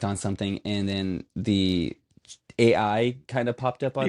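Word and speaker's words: 愛: "I," and it's spelled So yeah, AI.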